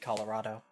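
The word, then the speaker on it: Kolorado: Explorer col uh Colorado I always get trapped over that I want to think it's it's pronounced differently but it is just like the state Colorado with a K with a K he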